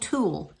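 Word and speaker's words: tulle: we're using for ribbon this is called tool you spell it t u l l e uh you can call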